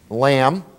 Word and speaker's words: lamb: still with me um b uh in some syllables is silent as in the word comb i want to go comb my hair lamb these are things you